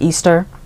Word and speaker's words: Ishtar: Also, if you know the mythology behind Lilith/Ishtar, which is actually pronounced Easter.